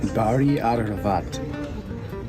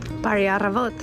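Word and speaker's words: Բարի առավոտ: Bari Aravat. Bari Aravot.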